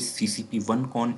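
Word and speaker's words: CCP1CON: X is basically, when we will talk about CCP1 module, we will pronounce it CCP1 con, and when we will talk about CCP2 module, we will say it CCP2 con.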